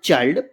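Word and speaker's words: child: चाइल्ड पढ़ेंगे। मैंने क्या बताया? कहीं भी लिखा हो आई के बाद एन डी या एल डी लिखा हो तो आई को बड़ा आ छोटी ई की मात्रा से पढ़ेंगे।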